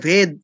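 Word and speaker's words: वेद: অনেকে আমরা বুঝি না আমরা ইংলিশে ভি এ দেখে উচ্চারণ করি কি ভেদা একদম ভুল এটাই ভেদ ঠিক আছে ভেদা নয় ভি দিয়ে অন্তস্থ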